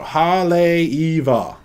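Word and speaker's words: Haleʻiwa: believe is what i learned was the proper pronunciation now so haley eva that's it that's my definitive pronunciation look y'all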